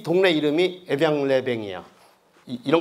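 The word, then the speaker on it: Évian-les-Bains: 나섰다는 것이 그게 유명해지고 에비앙이 이 동네 이름이 에비앙-레뱅이야. 이런 거 묵음이야 다 이런 거네.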